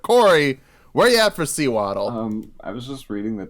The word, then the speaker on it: Sewaddle: so it's almost undoubtedly SEWADDLE. Oh no, I think it's swaddle, like you swaddle a baby in cloth. Right, yeah, so it's sew and waddle.